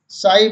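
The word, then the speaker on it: sigh: लाइट means रोशनी, wait means वजन, साई means आह भरना। इन शब्दों में भी जी एच हमेशा साइलेंट रहता है।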